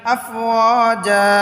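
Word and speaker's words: أَفْوَاجًا: আফওয়াজান হয়তো ওকফ করে পড়ার কারণে আফওয়াজা। দুই জবরের উচ্চারণ, তানবিনের উচ্চারণ এক জবরের উচ্চারণ হয়ে যাবে আফওয়াজা।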